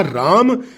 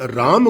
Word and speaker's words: राम: इसलिए अब समय आ गया है जब हम इन नामों के इंग्लिश लैंग्वेज में उच्चारण का सुधार करें और राम को राम ही कहें, कृष्ण को कृष्ण ही कहें, हनुमान को हनुमान ही कहें, लक्ष्मण को लक्ष्मण और योग को योग ही कहें।